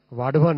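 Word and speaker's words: वाढवण: जैसे वाडवन पोर्ट है डहाणू के पास में महाराष्ट्र में, इसको वधावन मत बोलिएगा ना, वाडवन है इसका करेक्ट नेम।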